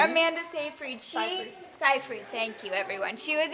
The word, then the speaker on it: Seyfried: Seyfried, thank you, everyone.